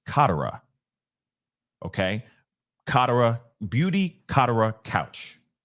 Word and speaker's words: Katera: been crazy but it's Beauty couch and it's Katara okay Katara Beauty Katara couch okay was located